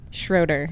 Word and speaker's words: Schroeder: here how do you say your last name Schroeder Schroeder I didn't want to mess that up you